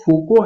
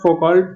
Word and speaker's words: Foucault: इसका जो correct pronunciation है वो तो फूको है, बट यहाँ पे आप फोकॉल्ट जो है मैं पढ़ रहा हूँ, फोको believed in history as archive और आर्कियोलॉजी।